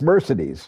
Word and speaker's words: Mercedes: You have to pronounce her name. I didn't do it right. It's Mercedes.